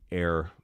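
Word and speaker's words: Ayr: Uh, look up the story of the air bank inure Scotland. That is spelled A Y R air.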